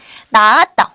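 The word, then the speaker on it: 낳았다: 이건 어떻게 읽으면 좋을까요 나았다 어 근데 아까는 바침 그대로 소리가 났었는데 지금은 히읗이 그대로 소리가 나지 않아요 나왔다라고 소리가 나야 되는데 그렇지 않아요 나왔다라고 발음이 되고 있지요 바침 히은 그대로 소리가 나지 않습니다 다음 나는 친구가음 나는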